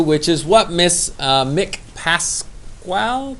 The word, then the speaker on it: Pasquale: So then we go to the third thing we should try to do, which is what Miss Mick Pasquale? How do you say it? Pasquale.